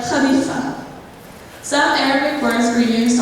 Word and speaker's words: Khalifa: For example, words with KH are pronounced more like louder than ka, like Khalifa.